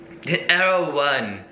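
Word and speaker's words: Erewhon: We're eating them outside of this place called Arrow One, which is very fancy place.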